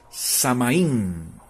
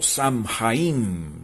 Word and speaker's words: Samhain: Ellos la llamaban Samaín o Samhain, depende de la pronunciación que usted quiera hacerle o decirla.